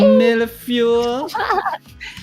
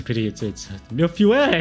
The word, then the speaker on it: millefeuille: Millefeuille. I don't know how to say this word. Milfil. Chat help. Millefeuille. Milfil. It's a French thing.